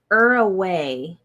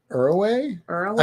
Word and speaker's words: Uruguay: Uruguay. So there's no G there? Uruguay? I've been saying it that wrong this whole time? The G is silent.